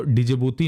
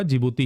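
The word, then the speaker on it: Djibouti: है हाल ध्यान रखिएगा यह डी से शुरू होती है इसकी स्पेलिंग तो डि जिबूती नहीं होगा जिबूती ही होता है ठीक है यहां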